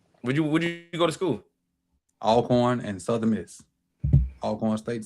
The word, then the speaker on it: Alcorn: Oh, Alcorn, not Elkhorn.